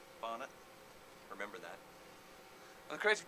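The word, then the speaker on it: Barnett: director how do you say your last name bner remember that I'm the creative director uh which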